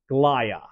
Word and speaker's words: glia: So typically, the answer you'll hear is glia, which is why the medical dictionary definition or for pronunciation is glia.